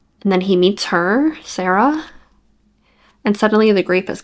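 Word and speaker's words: Saira: um the main character Sarah Cyra not sure how you pronounce it it's s a i r a i really liked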